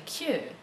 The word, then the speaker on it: queue: This is a queue, or a pull queue. It's spelled C-U-E. And there's another kind of queue which has the same pronunciation but a different meaning and a different spelling.